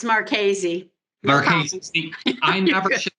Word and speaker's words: Marchese: It's Marchese. Marchese. I never should pronounce anybody's last name because I always get it wrong.